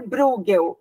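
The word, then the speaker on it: Bruegel: brincadeiras olha se chama ele se chama Peter burgel mas se escreve Peter o ego é muito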